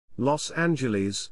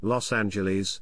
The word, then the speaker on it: Los Angeles: los angeles lawson jls spanish los angeles pronounced lit the angels often referred to by